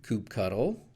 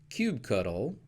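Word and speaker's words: kubectl: most commonly of course you not only have the option of Kubb and cube but also the last part of the word you can pronounce as cuttle CTL or control which gives you coop cuddle coop CTL coop control or cube cuddle cube CTL or cube control all of those are equally valid so you really just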